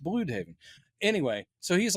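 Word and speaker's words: Blüdhaven: other DC show, they they would call it Blood Haven. Blood Haven, but yeah, it's pronounced Blue Haven.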